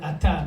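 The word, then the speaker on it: את: Because if we were addressing a female, how would we pronounce it? At. Baruch at. At. Right? Okay. If you were speaking to a female.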